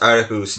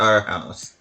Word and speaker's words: Aarhus: I actually think their name is supposed to be pronounced Aarhus, not our house. Our house would have an I in it, like in the Netherlands. I think it's supposed to be Aarhus.